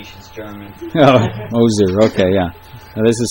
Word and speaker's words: Moser: called eliza was the moser i think the s is pronounced like a z she's german oh moser okay yeah now this